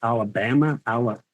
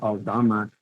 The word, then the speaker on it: Alama: name my last name they were like Alabama Al and I'm like no Alama next thing I know